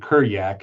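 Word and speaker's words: Kurjak: who's a soldier named Kuryak. His name is spelled with a J but Eastern Europeans pronounce J as Y.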